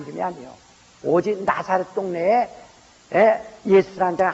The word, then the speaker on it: 예수: 그러니까 여러분 예수라는 이름이 여기저기 많다고 해서 솔직히 해서요 나는 한국 사람인 것을 참 감사한 것은 지저스 순종되는데 우리는 예수라는 발음은요 헬라 발음과 아주 100% 똑같습니다.